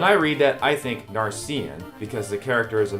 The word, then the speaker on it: Narcian: Oh, so I guess it actually is Narcian.